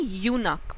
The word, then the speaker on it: eunuch: सो उनको हम यूनक बोलते हैं, प्रोनाउंसिएशन है यूनक, ओके, ई इज साइलेंट।